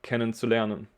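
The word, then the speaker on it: kennenzulernen: is what we say so we say like ken and sulein um we just put it together so if you know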